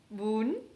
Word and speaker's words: bún: dans le bonne boule dans la prononciation c'est avec un accent aigu boon ucl se prononcent houle